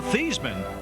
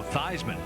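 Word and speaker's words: Theismann: a Notre Dame quarterback altered the pronunciation of his name from Joe thean to Joe thyman and I also knew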